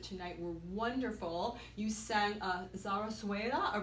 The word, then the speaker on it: zarzuela: You sang Zarzuela, or pronounce how you say that.